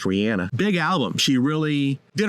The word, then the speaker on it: Rihanna: the crowning moment right there Rihanna it's actually pronounced Rihanna big album she really did her own thing